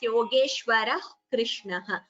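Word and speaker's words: योगेश्वरः कृष्णः: It sounds like half ha, if that makes it clearer for you. Yatra Yogeshwarah Krishnaha. It is what we call a Jihva Muliya, Visarga followed by Ka. So it would be pronounced as Yogeshwarah Krishnaha. You don't chant the Visarga completely.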